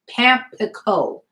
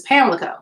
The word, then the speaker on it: Pamlico: Pamlico, which is actually pronounced Pamplico versus Pamlico.